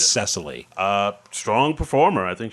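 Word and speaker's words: Cecily: cast memb next uh sisily strong oh oh cesal strong CES or sisily cesal it's spelled with a CE so it's sesily uh strong performer I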